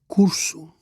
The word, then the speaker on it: curso: Curso, it's the first syllable, but it's the penultimate syllable as well.